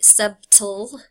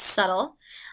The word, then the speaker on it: subtle: The B is silent. Don't say subtle. It's subtle.